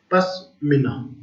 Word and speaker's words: पश्मीना: The source of best quality, पिस्मा, पस्मा या पिस्मा बोलते हैं, पिस्मीना, पश्मीना, इसका जो प्रोनाउंसिएशन है वो है पश्मीना।